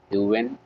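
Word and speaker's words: Huyghen: एक बंदा था जिसका नाम था जॉन ह्यूवेन वैन लिंस्कॉटन।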